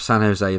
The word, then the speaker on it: San Jose: We'll go with San Jose then.